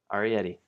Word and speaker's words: Arietti: Are you ready for Arietti? Is that how you say it? Arietti? Yes. Arietti.